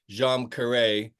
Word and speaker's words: Djam Karet: It's a phrase from Indonesia, so Yeah, I never give anyone a hard time if they pronounce it differently. I pronounce it Djam Karet, good.